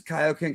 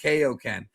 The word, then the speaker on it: Kaio-Ken: Pronounces Kaio-Ken correctly. A decade, bro. It was only a couple years. And also, you forget in the ocean dub of Dragon Ball Z the anime, they called it KOen.